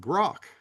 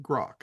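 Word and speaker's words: Groq: to, and it's called Grok. Not Grok like the tool for AI in Twitter or in X now. So Uh, how is it spelled? it's QROQ, and they pronounce it Grok.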